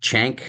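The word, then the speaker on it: Cenk: hair and they had chank I think is how you pronounce it ceen K from The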